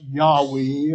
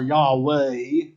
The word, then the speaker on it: Yahweh: for the Tet Graton yhwh we pronounce it yahi or Yahweh often translated Jehovah in our English translations to use that name